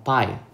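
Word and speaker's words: φ: Nah, untuk huruf itu dibaca dengan pi. Oke. Bacanya pi atau pi bacanya. Oke, seperti kue pie ya, tapi ini ada h-nya. Jadi pi.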